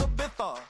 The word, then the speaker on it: Ibiza: Yeah, it's pronounced Ibiza, actually. Yeah.